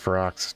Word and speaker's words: Ferox: review of cannibal frox I think it's now pronounced fer-oux don't judge me too hard I call it fough oh fancy that one